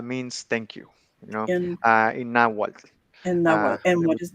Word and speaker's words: Nahuatl: Nahuatl. Nawal, Can you spell Nawal. that? Nawal is Nawal. It's I can actually spell it right here.